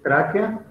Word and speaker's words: tráquea: Es tráquea. Con acento en la primera A, ¿eh?